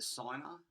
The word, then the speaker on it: signer: i u is the signer s-i-g-n-e-r and g is silent before the end i've got written down here and it is the signer is the sinner as the g before